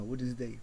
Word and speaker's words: Wednesday: Ah, Wednesday. Non, on prononce pas le D, imbécile.